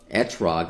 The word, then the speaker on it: etrog: And it's called the etrog, I guess is how you would pronounce it.